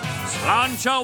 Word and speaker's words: Sláinte: Sláinte wa sail fada es bossin Aaron.